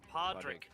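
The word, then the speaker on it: Podraig: It's Podrick. Yeah, Podrick. Roger, how do I That's spell that?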